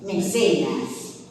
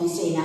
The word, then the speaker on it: mecenas: nada les digo que la segunda de estas sílabas en el esquema de la es larga y por eso decimos como decimos mecenas por algo decimos mesena porque originalmente esa segunda sílaba es larga en latín Por supuesto que el